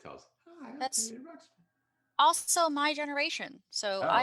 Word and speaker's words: Ruxpin: see, I thought it reminded me of Teddy Ruxbury. Ruxpin. Oh. Yeah. You're thinking of the Roxbury and Teddy, although that's a different movie. Wait, am I saying the name wrong? Yeah, it's Teddy Ruxpin.